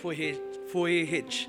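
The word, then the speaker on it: Vujičić: Nah, saya mau mengambil teladan pada masa kini, yaitu teladan dari seorang hamba Tuhan sekaligus motivator yang bernama Nick Vujicic. Tulisannya Nick Vujicic, tapi dibacanya Nick Vujicic.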